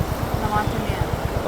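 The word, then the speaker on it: La Martinière: So what is the right pronunciation of the name? Lamartinere.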